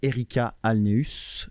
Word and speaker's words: Ericka Alneus: de Projet Montréal et donc chef de l'opposition Erika Alneus. Est-ce que je prononce bien ?